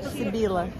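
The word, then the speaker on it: Sibilla: Como se pronuncia? Sibila.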